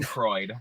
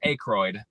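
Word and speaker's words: Aykroyd: want to I always want to call him Anroid because that's how I've always heard it pronounced, but it's Acroy. Huh. Oh, really? Yes. A Y K R O Y D. Well, I'm gonna say Acroyd.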